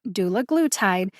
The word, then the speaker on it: dulaglutide: dictionary online shows that the letter a in doula glue tied is a short a like bat matte or patch that means that the